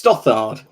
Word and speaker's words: Stothard: is welcome Madam it's stothard stth right okay sorry so there's like a h in there or you pronounce the th as a th the th is a th apparently excellent so just uh